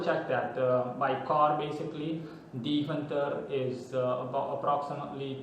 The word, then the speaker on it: Deventer: Deventer in English. It's a Dutch city, and it's in the municipality Overijssel. That's how it's pronounced. In English it would be Overijssel. In any case, Deventer, or in Dutch Deventer.